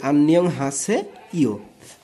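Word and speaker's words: 안녕하세요: আমি বলেছিলাম বাসিম ইয়ং যদি ওপরে থাকে, অর্থাৎ এই ইয়ং যদি এই ওপরের এক লাইনে থাকে তাহলে ইয়ং এর উচ্চারণ হবে না, কিন্তু যদি নিচে থাকে তাহলে তার উচ্চারণ অনিশ্ব হবে। তাহলে আন নিয়ং, তারপরটা কি হা, তারপরে সে, এটা কি হবে একার হবে সে, আর সর্বর্ণ শুধু সর্বর্ণ উচ্চারণ হয়ে যাবে, তাহলে ই ও, ই ও। তাহলে আন্নিয়ং হাসে ইও।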